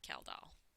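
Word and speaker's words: Kjeldahl: And the measurement is the Kaldal reaction usually. This is how you say that, Kaldal.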